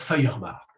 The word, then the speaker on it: Feuerbach: Feuerbach, ça s'écrit F-E-U-E, Feuer, le feu, F-E-U-E-R-B-A-C-H, Feuerbach.